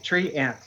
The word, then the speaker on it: treant: It's tree ant. A treant.